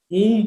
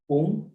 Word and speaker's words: ओम: आप ओम को ऊम पढ़ेंगे, औम पढ़ेंगे, ओम पढ़ेंगे, नहीं, ओम ओम ही है। ओम में कहीं आहत नहीं होता है, औ आहत हो गया, ऊ नहीं, ओम ओम।